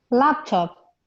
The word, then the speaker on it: laptop: it's not right because the stress should be on the first syllable so like you said it like you you pronounce it can ease can you say it again please okay laptop that's it that's the